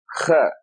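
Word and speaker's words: خ: It comes from the throat, kha. The other one is ha. This is kha. It is represented by the English kh. Of course, there is no kha in English.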